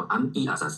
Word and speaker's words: mess: 大家注意一下，这个 mess mess，把这个 m 发音的